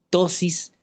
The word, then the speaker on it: ptosis: El signo clínico se denominais, se escribe con p al principio, tosis pctosis palpebral.